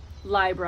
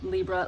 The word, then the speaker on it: Libra: The cardinal cross are the 4 signs, the 4 cardinal signs: Aries, Cancer, LiBRA, I pronounce Libra, LiBRA, and Capricorn.